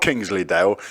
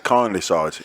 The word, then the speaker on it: Kindlysides: It's not Kingsleydale. You know, the other day when we did this podcast, our first one, he kept getting your name wrong. I said, it's Kindlysides. He went, kind what? I said, Kindlysides.